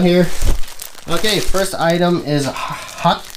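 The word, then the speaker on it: Huk: Okay, first item is Huck. I know it's pronounced Huck. I'm calling it Huck. It's H-U-K. That's English for you. I know why they pronounce themselves Hook, because Hook was probably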